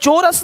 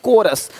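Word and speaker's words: chorus: यहां पे क्या लिखा चोरस नहीं कोरस देख रहे हो शिफॉन यहां पे शिफॉन है शिफॉन कौन है?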